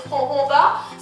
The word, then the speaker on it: jojoba: Another oil you can try out as well is jojoba. Some people say it's jojoba because of the way it's spelled.